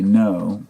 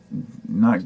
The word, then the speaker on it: Ngo: other day andy andy no ngo is his last name i guess it's pronounced no he lives in portland